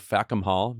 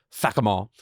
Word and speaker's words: Fackham Hall: Now she's starring in the period spoof Fackham Hall, maybe pronounced better, Fackham Hall, which hits theaters December 5th.